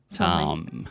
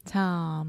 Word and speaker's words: Tom: Tom. Fechar a boca com M. Tom.